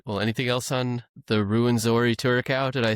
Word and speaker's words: Rwenzori: Well, anything else on the Ruinzori Turaco?